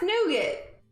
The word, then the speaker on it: nougat: nougat command yeah nougat it's pronounced nougat if you look at all the tv commercials when they're talking about the candy bars and they say it's the soft noogity center i just feel pretentious